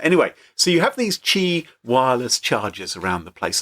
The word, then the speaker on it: Qi: I think it's pronounced Chi yes Qi not as in the television quiz show hosted by Sandy tox